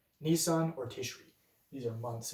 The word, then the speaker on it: Nisan: And so there are a number of words where there's debate about the proper pronunciation. We know the consonants, we're not sure what vowels would have been pronounced. So I will continue to use Nisan as my pronunciation. I will acknowledge there are other pronunciations out there.